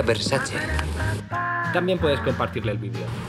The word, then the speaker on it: Versace: a Las Vegas o dice mal la palabra se pronuncia Versace también puedes compartirle el